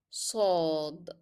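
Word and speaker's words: صاد: Let's start with the cousins, and the first one is sod, sod. It sounds like s, s.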